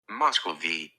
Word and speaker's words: Muscovy: see if we can repeat it or yeah Moscow V Moscow V Muscovy duck Muscovy duck okay okay